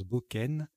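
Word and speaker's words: bocaine: Alors ça ressemble à cocaïne, hein, mais on prononce Boken.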